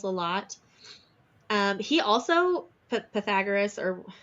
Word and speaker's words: Pythagoras: lot um he also Pythagoras or how is that how you say it Pythagoras uh that's how the Americans say it but a Greek person once pronounced it as Pythagoras okay well whichever that